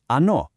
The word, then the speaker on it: оно: Ano. Awesome. These three on, ana, ano, they're our foundation. So, how do we know which is which? How can you tell if a noun is masculine, feminine, or neuter?